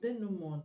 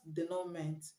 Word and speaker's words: denouement: This word is pronounced denouement, not denouement.